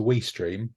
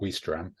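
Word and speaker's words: Ouistreham: So if you're ever taking the ferry to Weestream, which I believe is how it's pronounced, not Weestram, you should stop and look at Caen Castle because that's very jolly.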